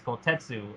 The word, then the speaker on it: Kotetsu: Pepsi, the manager was asking how do you pronounce his name, and he said it's Kotetsu.